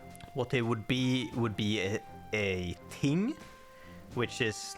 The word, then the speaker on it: ting: It's supposed to be ting, which by the way is spelled just T-I-N-G, so that's not even the thing.